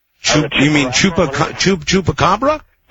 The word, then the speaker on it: chupacabra: I like to talk about that uh Chim Chunga. Chup. You mean Chupa? Chup chupacabra.